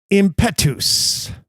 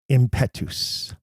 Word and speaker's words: impetus: Impetus. Catherine wrote to me to ask, why do I pronounce this word this way? Impetus, as opposed to impetus. Well, here's my answer.